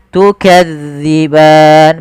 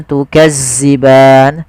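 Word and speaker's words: تُكَذِّبَانِ: Tukadziban. Pada lafal zal hati-hati ya, Teman-teman. Jangan sampai dibaca dengan zai, jangan tukazziban. Sering terjadi yaitu mengganti huruf dzal zai.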